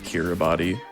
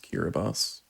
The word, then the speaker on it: Kiribati: If you were to say it as it is spelled, it would be Kiribati, but it is officially pronounced Kiribati.